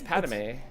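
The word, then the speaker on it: Padmé: Because Because I don't think it's Padme. It's Padme. There's Padme? There's nothing between the D and the M. There How is would it it. be It's Padme?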